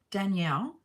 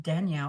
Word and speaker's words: Danielle: they pronounce my name so in Australia Danielle it's pronounced with Danielle when I came to America I was oh my God I was like they pronounced my name right it's French it's Danielle in Australia it's Danielle it irritates me so I